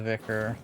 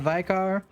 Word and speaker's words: vicar: so I think we're gonna run pervadi and the vicar yes that's how they pronounce it on in this game not vikar uh Northern model irritation